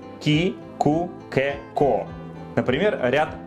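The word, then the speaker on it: 木: И читается как «ки».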